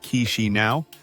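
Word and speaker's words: Chișinău: Chishino. And you say it like K-shi now is a city of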